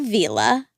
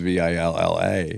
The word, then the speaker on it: Vila: Yeah, so it's Bob Vila. Well, is it? Yeah, it is. I looked it up, and it's spelled with one L. Oh, then I accept it. I thought it was Villa.